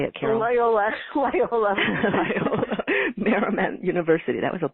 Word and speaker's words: Loyola: served on the faculties of Georgetown University and Loyola, can't say it right, Loyola, you say it, Carol. Loyola.